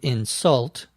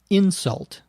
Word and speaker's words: insult: severe often personal criticism the verb is to insult the noun is insult a difference in the way that we stress the different syllables she is going to insult these teenagers Nick believes